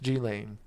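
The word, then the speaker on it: Ghislaine: s and her name is silent meaning it's pronounced G lane that changes the whole joke that's horrible I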